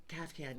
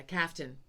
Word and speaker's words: kaftan: Kafkan, yeah, Kaftan. Kaftan. It's spelled differently than you say it.